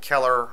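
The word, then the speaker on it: Celler: government cannot afford to defy the late immanuel keller i'm not sure if i'm pronouncing that correctly is c-e-l-l-e-r u.s congressional representative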